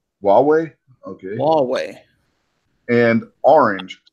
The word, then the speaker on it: Huawei: of who I will disclose my company it's pronounced Huawei Huawei okay long way and orange seizing documents and